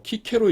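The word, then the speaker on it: Cicero: 있는 것이 사람 중에 하나 예를 들자면 어 키케로 있죠 어 키케로 키케로 키케로 스펠링 어떻게 되냐면 c c 옵니다 근데 읽기는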